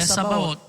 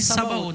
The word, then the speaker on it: Sabaoth: Não é nem Sabaoth, né? A gente fala Sabaoth, mas no hebraico fala Tsa.